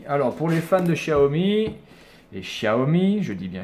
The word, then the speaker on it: Xiaomi: c'est pas le problème, mais ça se prononce Xiaomi, je suis désolé.